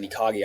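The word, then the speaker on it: ikigai: Japanese thing called ikagi, I believe it's pronounced, but it's like a Venn diagram of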